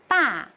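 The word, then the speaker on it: 爸: These two represents totally the different things. Ba means father. and pa means afraid. So everyone must pay attention to pronounce these well.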